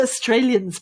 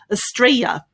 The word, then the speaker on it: Australia: trey astralia australia australia that's how the australians pronounce it okay we really uh what should i say erase some of those syllables and just make three syllables there estrella however other people pronounce it as you can see down here other people pronounce it as os traelia australia australia so whether you say us or os they're both correct whether you include the